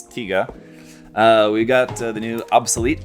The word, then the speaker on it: Tiga: we've got Evil tiga I won't call it Tyga again because in the last video like 90% of the comments for people correcting me on my pronunciation for that so sorry it's tiga we've got the new